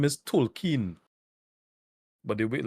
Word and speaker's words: Tolkien: so they actually address it his name is Tolkien but they wait like talking um behold everybody is pronouncing the song like token to like token black guy I think it's